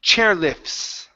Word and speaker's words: chairlifts: So, here, um, let's get rid of that T. Chairlifts. Chair lifts. Chair lift. Okay, so don't pronounce that T. Okay, so it's going to be an F to an S.